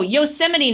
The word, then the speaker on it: Yosemite: a hard one like a national park oh Yosemite National Park Yosemite yeah Oh I thought it